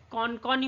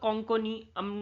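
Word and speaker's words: কোঙ্কণী: প্রধান ভাষা হয়ে যাচ্ছে কনকনি বলে অনেকে বা কঙ্কনি মানে যে যেটা ভাবে প্রোনাউন্স করে এটা গুজরাটের প্রধান ভাষা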